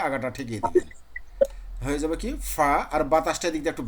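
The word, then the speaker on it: ق: ফায়ের পরে ছিল কাফ, ফায়ের পরে ছিল কফ, এটা কাফ না, কফ।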